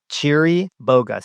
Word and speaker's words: Chiriboga: Actually you should probably spell it. Here we go. Cheeri Boa.